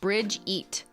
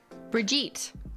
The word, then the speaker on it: Bridget: name wrong oh so I'll tell you how to say it Bridge eat Bridget say it but say it quickly Bridget when I see that